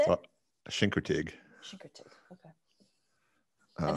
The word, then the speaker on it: Chincoteague: Chincoteague.